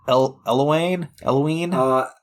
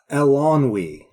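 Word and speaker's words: Eilonwy: I mean, Taryn and Eloine? Elonwe. So you had all the syllables right, just in the wrong order.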